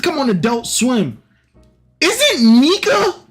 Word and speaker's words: Nika: Sound effect pronounced Nika in Japanese.